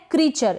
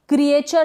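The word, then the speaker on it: creature: साथ यह है क्रीचर इसको हम क्रीचर पढ़ेंगे क्रिएचर नहीं पढ़ेंगे यह जो ई ए है ना यहां पर ई ए का उच्चारण जो प्रोनंसिएशन व है बड़ी के रूप में क्या है बड़ी के रूप में यहां पर ई ए को पढ़ा जा रहा है और यह जो चर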